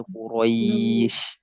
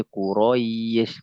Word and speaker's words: Quraisy: Maliki yau liila fi Quraisy. Jangan sampai dia sering terjadi kesalahan teman-teman begini. Liila fi Quraisy. Bukan begitu Quraisy, bukan begitu bacanya.